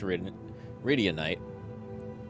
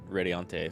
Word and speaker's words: Radianite: this company that manages Radianite. I always want to pronounce it Radiante for some reason. I think it's because I hear a lot of people say Valorante.